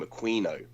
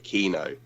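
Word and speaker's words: Aquino: this is something that Michael aino always demanded that people refer to him when they pronounced his name a quino as opposed to aino um the Al to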